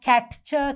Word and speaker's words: catch: We call it a silent T. මේ T අකුර අපි කොයි වෙලාවකවත් catcher කියලා කියන්නේ නැහැ. අපි T අකුර ශබ්ද නගන්නේ නැහැ. අපි කියන්නේ catch කියලා. That is a silent letter.